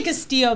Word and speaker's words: Castillo: I say Castillo, but other people will say something different.